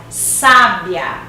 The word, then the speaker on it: sábia: Na primeira, olha a pronúncia, sábia.